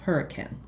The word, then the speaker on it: Hurricane: hurricane West Virginia it's spelled hurricane but it's pronounced hurricane I even called her to check yes wait